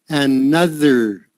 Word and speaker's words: another: That O sound is like the U in nut. Another. It's kind of halfway between an O, a soft O and a soft U. Like a soft O is ah and a soft U is oo. But this is halfway in between.